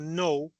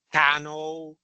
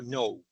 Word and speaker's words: know: Pero si volvemos a un irregular como el verbo no, para pronunciar este verbo no se pronuncia la K.